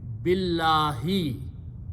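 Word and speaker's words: بِاللّٰهِ: more than two words, and if there is a letter alif in between this one, we do not pronounce this one. Okay, we directly pronounce this letter with this letter. So it became billahi.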